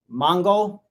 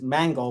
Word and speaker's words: Mango: You had Applehead, Mongo. Actually, it's Mango, but people mispronounce it. Call him Mongo because he was called Mango because he likes to eat mango.